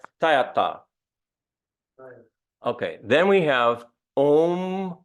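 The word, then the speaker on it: tadyathā: So it's not tayata, but it's tayata. Okay, so a little bit like a Spanish, tayata.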